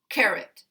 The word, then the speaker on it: carrot: no schwa combat combat this one has this uh stress primary stress on the first syllable but the second syllable is weak and it contains a schwa sound carrot carrot of course we